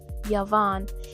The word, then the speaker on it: Yvonne: Everything is going well until the officient calls Ivonne by her real name, Yavon, and William corrects him, but we all are realizing at the same time that we've been pronouncing her name wrong.